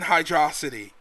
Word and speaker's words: Hydro City: me explain the word the word hydro and city is so close together that you can't pronounce it in my opinion anything other than hydrosity they're too close together